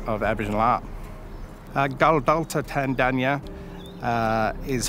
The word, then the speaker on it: Tandanya: contemporary way of of aboriginal art gal dalto tandanya is how you pronounce the name it is a ghana name